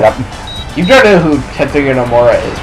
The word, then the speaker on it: Tetsuya Nomura: Tetsuya Nomura.